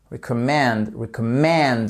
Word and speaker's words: recommend: What do you recommend? Vous voyez ce qui se passe? Vous avez votre accentuation sur la troisième syllabe.